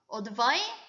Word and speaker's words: advice: advice로 끝나요. advice. 발음이 S 발음으로 끝나. 근데 동사로 조언하다는요. advise가 돼요. advise. 조언은 advice. 조언하다는 advise. 요게 발음이 명사형은 S 발음, 여기는 G 발음. 이렇게 끝난다는 게 차이점입니다.